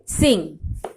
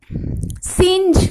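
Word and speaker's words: Synge: সিং। সিঞ্জ কোথাও কোথাও পাবে, বাট it should be pronounced as সিং।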